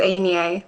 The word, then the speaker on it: Anya: And finally, Enye. Hi everyone, my name is Anya, pronounced like Kanye, just to make things easy for you guys.